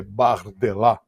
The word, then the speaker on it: Bardella: Que é neto de italiano, é Bardella, mas lá a pronúncia é Bardella.